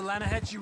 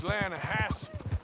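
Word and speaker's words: Lannahechee: You mean the Lanahatchee River? No. The Lanahatchee. It runs right near here. Yeah, but it's pronounced Lanahatchee. Why is everything in English said differently than it's written?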